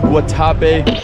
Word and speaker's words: Guatapé: Chúng tôi đã đến được Guatape. Guys đây là Mac từ tương lai. Nó thực sự được phát âm là Gua-ta-pe.